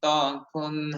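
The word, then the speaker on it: ت: আদায় হয়ে যায় আলহামদুলিল্লাহ তা অক্ষরটি যখন উচ্চারণ করা হয় তখন আমাদের জিহ্বার আগা সামনের উপরে দুই দাঁতের গোড়ার সঙ্গে অটোমেটিকালি লেগে যায় লেগে স্পর্শ করে এটা উচ্চারণ হয় আচ্ছা তাহলে এক নাম্বার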